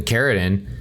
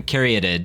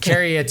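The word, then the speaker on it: Caryatid: you say it then sylvan carry it yeah but you said caridin yeah there's an n at the end seriously carry it it's a stupid word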